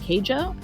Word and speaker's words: Keijo: good uh and and i believe that's pronounced keijo something like that k-e-i-j-o so the only one